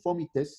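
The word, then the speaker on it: fómites: De manera secundaria se da por contactos, por fomites, se llama, esa es la pronunciación correcta, es una palabra esdrújula.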